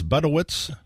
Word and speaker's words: Budewitz: Michael, how do you pronounce the last name? Budewitz? Budewitz, Pat.